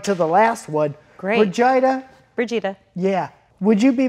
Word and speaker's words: Brigida: Brigida. Brigida. Yeah. Would you be my friend? Only if you can learn how to say my name properly. Brigida.